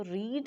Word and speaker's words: read: वैसे ही जाता है, जस्ट इसका जो प्रोनाउंसिएशन है वो चेंज होता है, जैसे रीड रेड रेड। तो यहाँ जस्ट हम जब इसको प्रोनाउंस करेंगे तो फिर हम इसको रेड पढ़ेंगे, अगरचे ये लिखा रीड ही जाएगा।